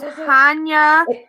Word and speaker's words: Hanya: work i can't say his name han it's hanya yeah it's like yeah there's too many syllables for my poor mouth that you can't